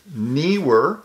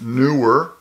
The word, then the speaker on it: Neewer: videos this product today from Neer that's how I pronounce it some people pronounce it newer whatever this product is